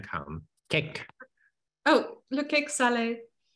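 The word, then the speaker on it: salé: learning French is like you say cake Sal because it has an accent on the E but if there's no accent means dirty so you have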